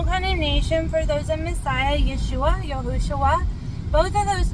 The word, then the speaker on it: Yeshua: People say, I can't pronounce Yeshua, it's just like saying Joshua with a Y, okay, Yeshua, Joshua, Yeshua, Joshua, you see?